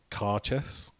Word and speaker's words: Cairdeas: I'm told it's pronounced like caress.